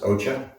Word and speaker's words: Osha: And this would be Osha Root. The Latin is Ligusticum, and in New Mexico, it's probably pronounced Ocha.